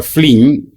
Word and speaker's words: Flynn: escribir más en detalle se llama efecto flink por el nombre de la persona que lo descubrió flin se escribe Flynn si ustedes lo googlean